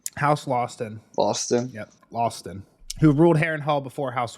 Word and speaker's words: Lothston: How do you pronounce that name? House Lawston. Loston? Yep, Lawston.